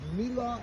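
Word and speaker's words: Miła: The street address was Mila 18. Really it's an a W. It's spelled with an L with a long Polish. The W in Polish is a V.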